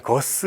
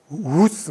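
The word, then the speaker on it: Guus: 그러니까 저희 아는 거스 히딩크 이분도 거스가 아니더라고요. 우스 뭐 이런 쪽에 가까운 발음이라서 어떻게 써야 될지는 모르는데,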